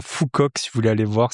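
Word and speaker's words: Phu Quoc: yes je l'ai perdu sur la plage à Fouok si vous voulez aller voir s'écrit PH U espace Q U o C.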